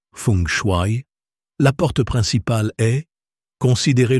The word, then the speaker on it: Feng Shui: Dans le domaine du Feng Shui, prononcé Feng Shui, la porte principale est considérez le portail à travers lequel les opportunités circulent.